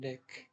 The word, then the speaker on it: deque: quewes antrian berakhir ganda deqw diucapkan Dek atau antrian berujung ganda